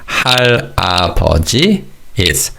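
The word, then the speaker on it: 할아버지: The word for grandfather is hari hari. Notice how the first two syllables link. So it's not har, it's hari.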